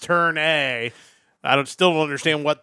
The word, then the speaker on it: Turn A: It's pronounced Turn A.